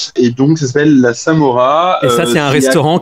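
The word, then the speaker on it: Samorra: sûr donc ça s'appelle la Samora Taverna la Samora Samora ça s'écrit S a M O 2 R a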